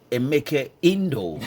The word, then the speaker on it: Emeka Indo: Emeke Indo. I got that correctly right now. Thank That's how the name is pronounced.